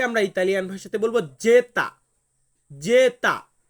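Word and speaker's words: zeta: ওয়াই জেড জেড কে আমরা Italian ভাষাতে বলবো জেতা জেতা সো ভিউয়ার্স আমি কিন্তু বলেছি যে ইতালিয়ান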